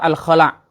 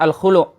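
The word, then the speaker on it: الخلع: Yang benar adalah surah Al-Khala' atau surah Al-Khulu'. Diambil dari lafaz nakhla'u.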